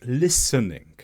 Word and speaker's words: listening: should have been listening the T should have been silent it should have just been the S sound listening and this is another